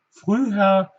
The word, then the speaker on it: früher: Früher, hier haben wir haben wir zwei Silben, also Silbenende ist das Ü und Silbenanfang das H. Deshalb wird es etwas anderes betont, also früh, ja.